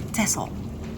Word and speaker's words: Texel: here they call him Texel but in Holland we say tessel because it's how we pronounce the island as well that's just a little